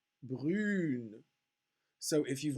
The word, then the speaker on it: brune: So the fact that this E at the end of the word, which is actually a mute E, and you don't hear that syllable, it's not a full syllable, une, brune.